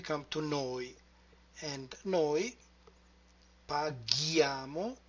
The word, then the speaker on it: paghiamo: Lui paga, lei paga, and then we come to noi, and noi paghiamo. In order to have the sound g, we have to insert H.